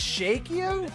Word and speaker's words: Chokio: Chokio. Common pronounced Shokio. Shakio. Oh, it's Shakio? What?